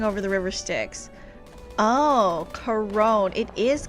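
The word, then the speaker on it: Charon: Karen. It's Karen. like Karen. Hold on, never mind. Someone said, "Uh, I've been pronouncing it similar to Karen, but that puts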